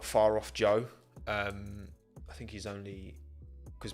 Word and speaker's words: Zhou: You pronounce it Joe, not Zhu, as I've heard some people say.